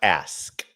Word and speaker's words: ask: It's pronounced ask.